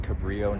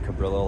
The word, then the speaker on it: Cabrillo: I stand corrected, it's pronounced Cabrillo, not Cabrillo, like I said. My apologies, I don't speak Spanish.